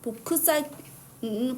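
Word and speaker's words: 보크사이트: 저는 보크 사이트음 보크 사이트 우리는 보키 사이트 일본어는 그렇게 외웁니다.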